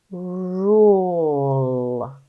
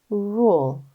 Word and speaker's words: rule: that you've seen before remember that e is silent and U says U ready rule sound it out again Ru good say it fast rule say it fast r